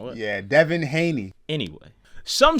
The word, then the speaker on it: Haney: you know that Ryan Garcia just beat Devin Hanley in an embarrassing loss I know I pronounced it wrong what yeah Devin Haney anyway some say that Haney's jaw is even